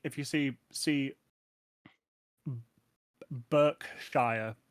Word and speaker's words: Shire: don't no they live in the Shire it's pronounced Shire despite you saying it if it was a